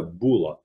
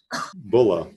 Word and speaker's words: bulla: in the united states for american pronunciation you'll hear some people call it a bula but i say bulla not boo but is a male cow right and we call